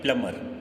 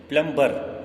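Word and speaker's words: plumber: इसको क्या पढ़ते हैं, प्लमर। क्या पढ़ते हैं, प्लमर, प्लमर। क्या पढ़ते हैं, प्लमर, right. प्लम्बर is wrong, प्लम्बर नहीं पढ़ते हैं, प्लमर।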